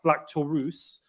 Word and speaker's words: Black Taurus: It's Black Taurus.